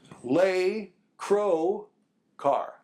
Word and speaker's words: Lescroart: yes his followers were L Crow car that's it they dropped the quu that's my name how